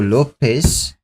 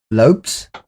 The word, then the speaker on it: Lopes: main card is Diego Lopez Lopes it's it's the Brazilian with a mohawk Lopez is spelled within Zed so he's Lopes yeah with the S funnyes why Lopes Diego